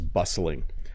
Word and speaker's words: bustling: When I go to the mall, it is bustling. Let me say that word again. It's a little tricky to pronounce.